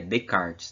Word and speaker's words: Descartes: Olha o nome dele aqui, é Descartes, tá? O S você não pronuncia, porque é francês, é Descartes.